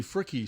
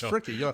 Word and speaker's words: Fricke: playing country music janie fricke started a recording and we didn't know you pronounced the e we called her janie frick until we heard somebody on some national show say it's freaky but yeah so